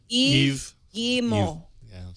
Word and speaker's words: Yves Guillemot: How do you pronounce his name? Yves Guillemot.